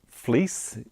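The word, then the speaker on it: Vlies: a relies pad festival fleece is how it's pronounced spelt VL IES it's an 800 grit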